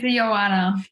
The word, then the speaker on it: Ioana: Ioana, oh my goodness, I mispronounced your name. Can you say it for me again? It's Ioana.